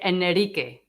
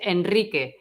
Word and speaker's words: Enrique: Also, after the letter N, okay? For example, Enrique. We don't say Enrique because it's just weird. Enrique. So we say Enrique, enroscar, okay?